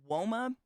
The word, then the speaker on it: Woma: And that's the other thing, like Woma, WOMA is how you say the word.